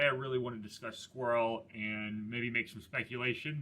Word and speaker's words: SQRL: fast food um again sqrl is pronounced squirrel but it stands for stewardship